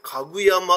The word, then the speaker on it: 高山: 山と書いて、これ家具山って読んであるんです。